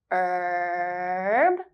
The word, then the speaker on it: herb: Herb, herb, herb. That last one has a silent H and is tricky to remember.